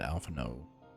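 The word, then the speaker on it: Alphinaud: pick up his Trail I would never because that's how you pronounce it Alpha no interesting thank you well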